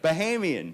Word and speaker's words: Bahamian: Bahamian Bahamian resort.